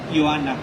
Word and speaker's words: Ioana: Y respecto al nombre de la protagonista, se pronuncia Joana, como Joana.